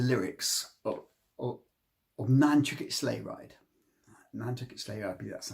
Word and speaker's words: Nantucket Sleighride: uh particularly the lyrics of net slay ride net slay ride that's how it's pronounced by a psychedelic Rock Band of the